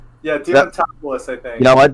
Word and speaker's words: Diamantopoulos: And of course, because Chris Diamantopoulos is already a regular cast member on the show, he did that one like throwaway line for Watermelon Mickey.